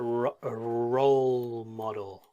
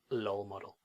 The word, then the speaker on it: role model: I know that Japanese as well, Chinese, the L and the R is very difficult to pronounce because they are very similar sounds in the Japanese and the Chinese languages, but we need to try and get it a role model, not lol model.